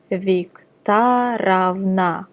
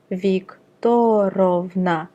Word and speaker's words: Viktorovna: Note that I'm reading Viktorovna and not Viktorovna, since this is how you pronounce it.